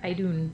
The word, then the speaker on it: Idun: Okay, yes, so the Norse goddess of immortality is Idun, or Idun, depending on where you get your pronunciation from. But for me, it's just Idun.